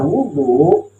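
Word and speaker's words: وضوء: Artinya kalau dibaca wadu itu namanya nama air. Nama air. Tapi kalau dibacanya wudu itu adalah ismul lil fi'li. Itu adalah nama untuk satu pekerjaan.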